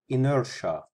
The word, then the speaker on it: inertia: I am e or T this word is pronounced inertia in everyday terms it is defined as the